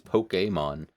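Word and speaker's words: Pokémon: Um even though technically the correct way to pronounce it is Pokemon, but no one's going to say that because you're going to sound like a loser. It's Pokemon, you know?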